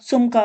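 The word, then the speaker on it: сумка: जिन संज्ञाओं का अर्थ ' यश्का रॉड' है, जिसका अर्थ स्त्रीलिंग है, वे हैं: निगा (पुस्तक), माशिना (कार), सुम्का (बैग ); रबोटा (कार्य), सुमका का अर्थ है बैग, रबोटा का अर्थ है नौकरी या काम, शकोला ( स्कूल)।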